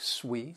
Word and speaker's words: suite: other sweet that sui it is pronounced like sweet sweet and that is